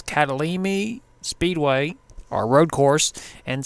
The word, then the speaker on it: Kyalami: we are at the I believe how you pronounce it is catalin me Speedway our Road course